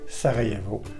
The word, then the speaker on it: Sarajevo: Le J se dit comme un Y, comme dans yogourt. Par exemple, Jedan, qui veut dire un, ou la ville de Sarajevo en Bosnie-Herzégovine.